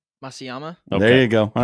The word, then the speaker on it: Matsuyama: Henry, how do you pronounce the golfer's name? Masayama.